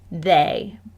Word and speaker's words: they: it is pronounced was here is another high frequency word that does not play fair this word is they if i use it